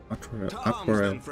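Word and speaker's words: Artoirel: Lord Artorial? Your assistance is most welcome, Lord Atwarel. Atwarel. Okay, that's how it's pronounced.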